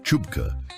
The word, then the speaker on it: CHBCA: The Committee for Human Biological Compatibility Assessment, or CHBCA, pronounced Chupka by everyone who had to say